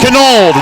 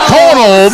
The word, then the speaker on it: Canold: Canold, not Conold. I always tell my students when they first have me, okay, think of the hardest way to say it. Yeah. That's how you say it.